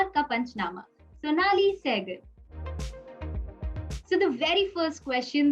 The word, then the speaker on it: Sonnalli Seygall: So yeah, it's pronounced pretty much the same, Sonnalli Seygall.